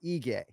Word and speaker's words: Ige: you could see just don't let dominic cruz screw you up on the e-gay pronunciation no i don't even know is it ige nailed it i think people see that eye ken flow right it is ige yeah yeah i mean